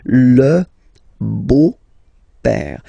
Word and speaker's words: beau-père: beau-père, the beautiful father, le beau-père. So remember this E-A-U combination of vowels only give you the sound O, beau, okay, le beau-père.